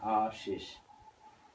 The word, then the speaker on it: Aashish: It's Aashish, which is pronounced Ashish, and last name is of course, like, Ashish.